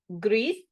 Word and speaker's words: gris: Morado, gris, so we make sure we pronounce the S and the I gets more of an E sound.